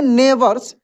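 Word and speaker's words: neighbours: माय नेबर्स क्या पढ़ेंगे नेबर्स एन ई आई जी एच बी जी H silent रहता है कैसे पढ़ेंगे नेवर देखिए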